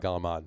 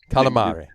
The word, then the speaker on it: calamari: There's no G. Calamari. There's no G. There's no D in it.